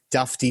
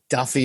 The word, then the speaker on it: Dufty: Everyone was giving Brandon a hard time for mispronouncing Dufty to Duffy, and I realised that the difference between Dewey and Dewey's a bigger margin.